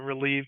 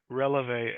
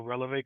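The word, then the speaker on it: Relevé: for me sure yep we are rev counseling so it speaks a little bit to my dance background all right because I've been pronouncing it relieve counseling but that's my American bias I'm sure you hear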